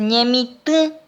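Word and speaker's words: ñemitỹ: Cultivar se dice ñemit, con acento nasal.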